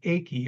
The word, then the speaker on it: Ake: I believe it's pronounced Akey versus Oklahoma. The money sentence in that